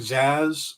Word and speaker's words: Zsasz: Professor Pig and Zaz, or however you spell it.